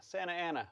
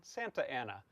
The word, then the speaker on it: Santa Ana: Santa Ana, S-A-N-T-A dash Ana, Santa Ana. We don't pronounce the T, but you can, Santa Ana.